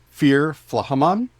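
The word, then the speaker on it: fír flathemon: Fear Flahaman is how I pronounce it, because when there's an H after a T, you don't pronounce the T in modern Irish Gaeilge.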